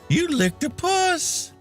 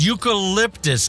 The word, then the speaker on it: eucalyptus: You lick a puss. What? It's so good. Smell it. You lick a puss. Huh? hands me a candle jar. It's pronounced eucalyptus, kid.